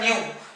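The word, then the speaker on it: ν: is being represented by nu. It's a little bit twisted small v, which is pronounced as nu.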